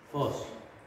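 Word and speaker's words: φῶς: Fos. Ya. Fos. Jadi dia dari awalnya meninggi kemudian menurun. Fos.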